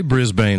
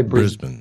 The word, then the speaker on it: Brisbane: were actually having experiences yeah did I say Brisbane wrong I've got an Australian in the chatroom